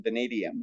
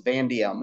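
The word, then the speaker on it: vanadium: off half a point if you left out that second a in vadium right because that drops a whole syllable doesn't it vadium becomes vandium if you do that um which is really close but still that's dropping a syllable so I did take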